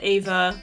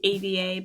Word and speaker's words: Ava: Well, okay, but there are, like, sometimes in European spellings it's pronounced Ava with the E in front of it, and I think that's way cooler than AVA, but, like, whatever.